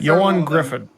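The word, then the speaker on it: Ioan Gruffudd: Yan Griffith.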